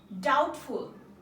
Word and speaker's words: doubtful: ডাউটফুল, ডাউটফুল, DOUBT, ডাউটফুল, FUL, ফুল, ডাউটফুল সন্দেহজনক। এখানে বি কি হবে? সাইলেন্ট আকারে রয়েছে।